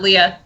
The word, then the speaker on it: Leah: okay let's do that you know what do you prefer because I honestly I know people named Leah and Leia they spell it the same way answer to whatever but but Leah for sure I'm gonna call you Leah from now on because I called you Leia because Abe keeps calling you Leia there we